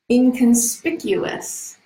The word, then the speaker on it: inconspicuous: example oh here's another difficult pronunciation you remember inconspicuous I have five syllables okay not you inconspicuous